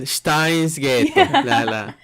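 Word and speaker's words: Steins;Gate: Japanese people pronounce it Steinsghetto.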